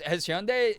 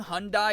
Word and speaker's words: Hyundai: Hearing Hyundai is so weird. I've always heard Hyundai. It's weird. They like allowed like all the weird mispronunciations because we should be saying Hyundai.